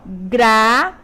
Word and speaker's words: gratuito: Então, veja o que faz diferença. Então, aqui, quando eu digo gratuito, além de pronunciar errado, ainda estou escrevendo errado, é um barbarismo. Às vezes a palavra tá ali gratuito, sem acento, mas eu vou lá e pronuncio o gratuito. Então, eu meti o quê? barbarismo a eh fonético, porque eu só pronunciei errado, mas a escrita estava correta, tá?